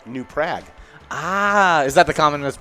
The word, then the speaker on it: New Prague: and it is uh pronounced in not newprog it's pronounced new prague ah is that the